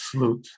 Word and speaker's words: Slutz: And he was, in terms of the electronics, it was Ralph Slutz. That's spelled S-L-U-T-Z.